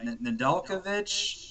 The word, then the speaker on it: Nedeljkovic: But I'm assuming they're going to start with their young guy, Nedeljkovic. Did I pronounce that right?